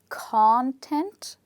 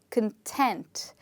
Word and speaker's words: content: that in this word in the two different pronunciations the word stress changes and that's why they are pronounced in a different way so in the first